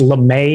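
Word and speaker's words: Lamae: on the pronunciation thing it's lemay not lamia i think i said lamia which is actually like the snake people yeah different things yeah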